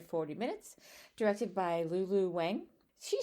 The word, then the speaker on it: Wang: What we read as Wang is often pronounced Wong.